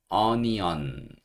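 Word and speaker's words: onion: 뜻을 가진 단어예요 양파 양파는 어니언 니언 이렇게 발음하시면 됩니다 끊어읽기 한번 해 보면 오를 여기서 어라고 발음하는 거예요 그다음에는 니 이렇게 발음이 되고요도 이렇게 되는 겁니다 그래서 여기는가 두 개 있는데 둘 다 어 소리라고 보시면 돼요 니 하시면 되고요 반드시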